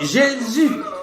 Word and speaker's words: Jésus: Donc Jésus mais ils ont maintenu la prononciation c'est G.